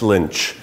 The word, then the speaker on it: lunch: It's called lunch, but it's pronounced lynch.